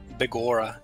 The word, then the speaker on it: Begorra: You had the pronunciation right the first time. Begorra.